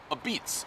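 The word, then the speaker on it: apizza: __ ] spectacular spacular a beats like this you say I just learned it but you say it like this a beats a beats a with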